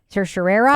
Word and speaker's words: certiorari: It's also everybody pronounces it differently. Like on my podcast um Civics 101 that we do at NHPR, they It's certiorari.